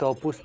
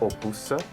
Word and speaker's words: opus: and the other thing that you didn't pronounce we shall not say 'opusse' but only 'opus' 'opus pēniclō' Pèniclo?